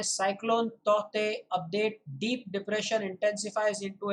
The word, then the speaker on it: Tauktae: तो ऐसा है ये शब्द तौते। अम, और यही सही होगा उसका उच्चारण, तौते, ना कि तौकते। भले ही उसके स्पेलिंग में जो है के हो, क्योंकि IMD ने ही ऐसा कहा है।